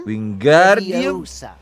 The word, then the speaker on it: Wingardium Leviosa: Wingardium Leviosa. Leviosa. Remember, make the gar nice and long.